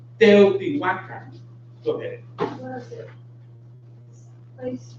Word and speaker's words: Teotihuacan: Often in Mexico, pronounced Teotihuacan, Teotihuacan. But in Nahuatl, it's Teotihuacan.